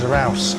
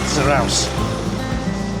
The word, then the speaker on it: Zarautz: Independencia We know how to pronounce the town's name now, don't we? It means Zarauz. So, the T is at the end is a sound. Zarauz.